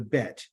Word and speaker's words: Bet: The second letter is going to what they call the Bet. On your left-hand side of the screen, it's spelled B-E-T, like, place a bet.